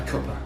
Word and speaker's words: cuppa: So use the schwa sound. A cuppa. A cuppa.